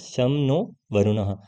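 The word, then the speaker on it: शं नो वरुणः: Indian navy contains the motto some नो वरुणः pronounce शम नो वरुणः यहां पर लिखा है ना शम नो वरुणः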